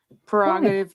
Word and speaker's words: prerogative: I just pronounce it without the R. I say prerogative.